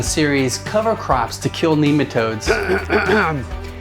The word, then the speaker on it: nematode: 3 in the series Cover Crops to Kill Nematodes. It's pronounced nematode. I've heard it pronounced both ways, and I've always pronounced it this way. I know, but soil biologist Dr. Elaine Ingham pronounces it nematode.